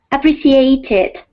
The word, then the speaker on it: appreciated: The past tense, of course, Carmen, is Appreciated. okay. There we go. The ID or extra syllable sound is only after T, verbs that end with T or D.